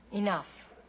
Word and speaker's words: enough: Enough. What? See the GH at the end of that word? That's pronounced like an F.